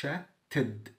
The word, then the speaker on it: chatted: ينتقل move moved chat chatted عشان قبلها تي فانطقها اد بقى تد chatted chatted يفكر think